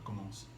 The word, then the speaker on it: commence: Et ici commence, on prononce pas la fin là, on dit juste commence.